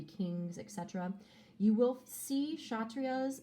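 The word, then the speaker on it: Kshatriya: um but know that when you pronounce it the k is silent we have the vaishas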